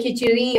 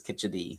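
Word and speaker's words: kadhi: Keri, but I think it's kad. I think it's a D, not an R. Right. It's a kit. Yeah. But there are there are people who who say kiteri also.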